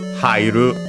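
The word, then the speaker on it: 入る: It's a another compound word from which is from Uru actually more often than not in uh modern in modern Japanese as pronounced actually as hieru.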